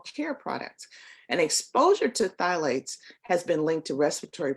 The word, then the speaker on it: phthalates: And then we have those phthalates, It's spelled PHTHALATES.